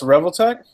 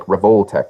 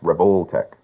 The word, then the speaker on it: Revoltech: if emia was here emia would be like revoltech revoltech you know yeah because they're named after the revolver it's called rol know